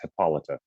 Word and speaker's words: Hippolyta: i'm going to give it to you if your pronunciation again it's hippolyta hippolyta who is that who are both of